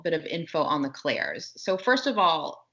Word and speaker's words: clair: of info on the Claires so first of all Claire is the way that we're referring to it is spelled c-l-a-i-r and it is just French for the word clear right so we're just